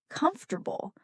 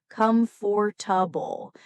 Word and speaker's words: comfortable: For example, let's take the word comfortable. Many learners say it slowly as comfortable, but in everyday English, it's often pronounced as comfortable. A shorter, smoother sound.